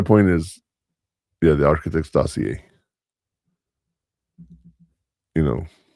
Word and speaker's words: dossier: Doier. Dossier.